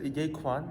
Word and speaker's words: Ye Quan: Did I pronounce these names correctly? Yeah, you could say Ye Quan.